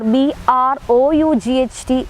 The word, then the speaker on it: brought: We can see one example written here, B-O-U-G-H-T, it is bought, or B-R-O-U-G-H-T, it is again uttered as brought, whereas E-N-O-U-G-H, that is uttered as enough.